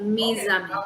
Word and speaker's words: mes amis: Je vais souvent avec, oh sorry, je vais souvent au café avec mes amis. Because S and A sounds, so that's Z, mes amis.